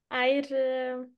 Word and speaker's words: Eir: Eir, yeah, it's a Norwegian name, or it's a norrønt.